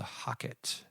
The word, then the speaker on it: HOCATT: So I came across this machine, and it's called the Hocket. And that is spelled HOCATT, and it stands for, brace yourself, hyperthermic ozone carbonic acid transdermal therapy.